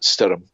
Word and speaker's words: Stoyrm: It's Stoyrm, and apparently that is pronounced Stirrum. And that's Gaelic for storm.